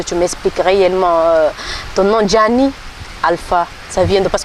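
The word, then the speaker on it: Djanii: Donc, Gianni, ça s'écrit D-J-A-N-I-I.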